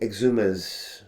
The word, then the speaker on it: Exumas: How do I pronounce it? Exumas.